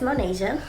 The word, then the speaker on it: Monesha: say my name so that's how you say my name my name is monasia for the people that